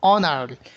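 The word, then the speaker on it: honour: অনার, এইচ উচ্চারিত হচ্ছে না।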